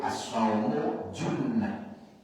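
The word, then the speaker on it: الصوم جنة: gundul dan ada harakatnya seenak dewe dia bacanya asumu rasulullaham asumu jannatun pakai fathah Poso itu ya surga ditegur sama jamaahnya Kok dibaca Fath Yai loh opo niku Dom asaumu junnatun jadi yang benar itu asaumu junnah puo itu adalah perisai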